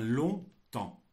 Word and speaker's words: longtemps: temps par contre longtemps il y a une partie que je prononce pas qui vient du latin thè pous il y